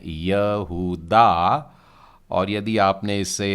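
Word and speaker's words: יהודה: है और हम इसे हिंदी में कहते हैं यह हुडा और यदि आपने इससे यहूदा पड़ा है तो मैं समझता हूं बिल्कुल सही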